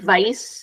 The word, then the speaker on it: vice: they like doing um so I think practicing wipe and vice is a good way to practice the difference between W and v um all right so